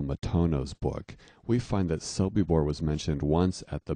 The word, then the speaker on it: Sobibor: book we find that sobibor was mentioned once at the big nuremberg trial but spelled as soby burr the misspelling being closer to how it's pronounced it occurs where camp